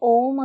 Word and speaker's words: ओम: बताइए मजे की बात जब आप ओम बोलोगे तो पूरे मुंह के अंदर जीभ छुए गी नहीं ओ जी इसलिए इसको पाप रहित बोलते हैं मतलब ओम एक ऐसा शब्द है कि जब आप उसका उच्चारण करेंगे तो आपकी जीभ कहीं भी टच नहीं करेगी लेकिन आप किसी भी